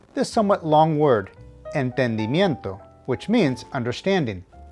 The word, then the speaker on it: entendimiento: this somewhat long word entendimiento which means understanding the emphasis needs to be on the second to last syllable nien which is pronounced